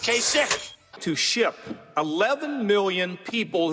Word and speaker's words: Kasich: Pronounce his name Kasich. It's I-C-H. Every time I see it, I say Kasich, but it's pronounced Kasich.